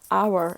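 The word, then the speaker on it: hour: h 보면 어때요 여러분 How이라고 소리가 나야 되는데 묵음 경우가 있어요 그래서 our 이렇게 내고 이것도 원래 뭐예요 여러분 정직이란 뜻인데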